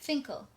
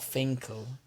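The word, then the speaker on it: Fin.K.L: senior label mate which you pronounce it finkel it's not finkle it has the thing oh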